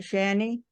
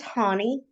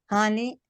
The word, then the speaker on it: Hani: And do you pronounce that Shani? It's Hani. Honey? Yes, Lo- ma'am.